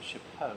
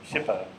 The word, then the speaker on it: SHPO: apologies yeah and see I used to pronounce it shapo because I I thought it sounded French and nicer but it's shipo yeah I apologize yeah